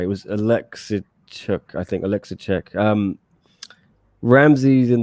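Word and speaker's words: Oleksiejczuk: We got the correct pronunciation given to us on the preview, Chris and I. It was Alexichuk, I think.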